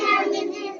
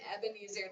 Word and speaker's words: Ebenezer: Ebenezer. Okay, you do it. I'm gonna count it. Ready? Ebenezer. Wow! How many syllables are you saying? 4 syllables in his name, Ebenezer.